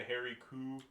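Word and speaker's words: Hairy Coo: So that's the Harry Cow, otherwise pronounced as the Harry Coo, by the locals.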